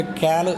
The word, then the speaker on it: ക്യാല്: ഭാഷ ഉച്ചാരണം വളരെ വ്യത്യസ്തമാണ് നമ്മൾ കാല് എന്ന് പറയും അത് ഗോത്രഭാഷയിൽ ക്യാല് എന്നാണ് പറയുക അപ്പോ നമ്മൾ ഇത് പറഞ്ഞു